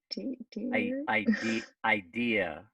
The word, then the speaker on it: idea: So, I So just what is the correct pronunciation about ID I dear?